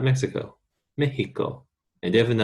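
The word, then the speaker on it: México: Mexico. And definitely not Mochiga. Mexico. In Spanish, this X, a long time ago, used to be pronounced H, and Mexico still keeps that.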